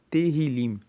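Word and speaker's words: Tehilim: O livro de Salmos, no hebraico, no texto original, se chama Terrilim. se escreve T E H I L I M e Terrilim significa louvores.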